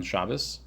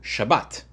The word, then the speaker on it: Shabbat: Commanded to rest on Shabas. So Ashkanazi Jew like myself will pronounce it Shabas. Shabas. A Sephardic Jew will pronounce it Shabbat.